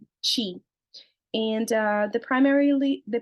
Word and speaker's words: Qi: travels throughout the body Qi can also be called Chi pronounced Chi and uh the primarily